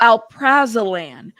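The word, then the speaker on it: alprazolam: Uh, pronounce this for me. How do you say this? Um, oh, alprazalan, which is an active ingredient in Xanax.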